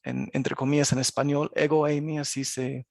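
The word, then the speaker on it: ἐγώ εἰμι: lo escrito digamos en entre comillas en español egoi mí así se pronuncia esta frase significa yo soy y estas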